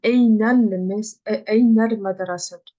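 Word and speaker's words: إلى المدرسة: de phrase, du coup, on va plus le prononcer, on va dire Einal madrasat. Einal madrasat. Ok, on prononce plus le elif, on fait directement une liaison entre Eina et le lem.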